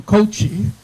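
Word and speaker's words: Kouchi: words Aloha aloh and it's Ron coochi but it gets it gets butchered all the time so I take no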